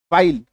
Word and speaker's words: file: जैसे FILE, फाइल, like, life, give, last में ही है, उसका कोई उच्चारण नहीं होगा, है ना।